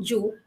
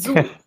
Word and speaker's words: zoo: you kept saying Jew. It is not Jew, it is zoo.